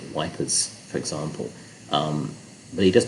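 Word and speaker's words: Ypres: We entered Wipers because Eeps, I guess, is difficult to pronounce for the British, so they called it Wipers, for example.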